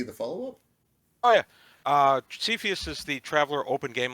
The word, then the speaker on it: Cepheus: Oh, Is that's I'd how be you in on pronounce that. it? Cepheus is great. Yeah, Okay. is it Cepheus, correct? It's Cepheus, yeah.